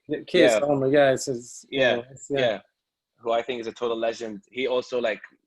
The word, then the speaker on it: Keir Starmer: it, and I still don't know how to pronounce his name properly. Keir Starmer, is this how you say it? Keir Starmer, yeah.